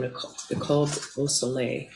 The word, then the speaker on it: Nicole Beausoleil: I wasn't doing a great job at the French pronunciation of your name, Nicole Beausoleil, correct? Correct. Was that right? Yes.